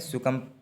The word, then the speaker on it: succumb: इसको क्या पढ़ते हैं, देखिएगा डबल सी होता है UMB, बी साइलेंट मानते हैं, इसमें सुकम पढ़ते हैं इसको।